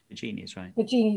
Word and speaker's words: Baggini: Is it Baggini? Baggini is right.